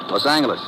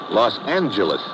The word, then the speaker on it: Los Angeles: Later we moved out to California, Los Angeles. Correction. Los Angeles. Huh? Yeah, soft G.